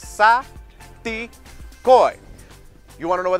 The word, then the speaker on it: Saticoy: Saticoy. Everybody, syllables, three syllables. Saticoy.